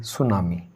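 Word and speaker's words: tsunami: Second lesson है सुनामी। टी इसके अंदर साइलेंट है, टी को प्रोनाउंस नहीं किया जाता।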